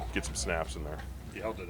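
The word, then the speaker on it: Hjalte: Yelda, that's how you pronounce it. Yeah, Yelda. Yeah, it's a lot easier than it looks, right? Yeah. There's an H in there.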